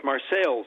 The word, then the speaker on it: Marseilles: Well, it's Marseilles, Illinois. Okay. It's spelled the same as Marseille, France, but...